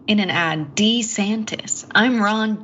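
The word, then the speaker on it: DeSantis: we'll have to see and Ron de santis pronounced his own name in an ad D santis I'm Ron D santis he did yeah are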